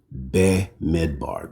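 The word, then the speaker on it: Bamidbar: Bidbar is how you say that's the Hebrew name for uh the book of numbers. So it just means in the wilderness. Midbar. Be midbar.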